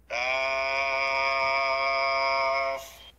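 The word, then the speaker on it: كاف: বলতে হয় কাফ এই হরফটি বলতে চার আলিফ পরিমাণ লম্বা হবে জিহ্বার গোড়ার একটু আগের তালুতে লাগবে স্বাভাবিক উচ্চারণ হবে শেষে উপরের দাঁত রাখবেন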